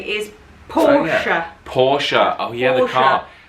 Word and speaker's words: Porsche: no it's porsche porsche the e is silent porsche so you can say